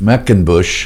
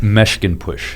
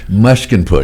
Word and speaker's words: Meshginpoosh: Today in the studios from Atlanta is Zubeen Meshkinpour. I know I didn't pronounce that right. Tell us again how you pronounce it. Meshkinpour. Meshkinpour.